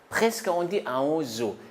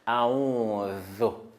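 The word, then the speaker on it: أعوذ: Quand on prononce Zal, la langue là, ça sort et on met la langue entre deux dents. A'udhu, a'udhu.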